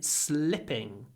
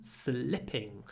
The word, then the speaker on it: slipping: it's difficult um and to really get it you need to do a very short I in slipping but sleeping slipping sleep look at the position sleep slip sleep slip sleeping slipping sleeping slipping sleeping my mouth is closed slipping my mouth is open try it with see